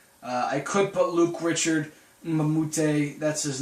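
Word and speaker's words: Mbah a Moute: I could put Luke Richard Mamute. That's his name. If you don't know how to pronounce that, Luke Richard Mamute.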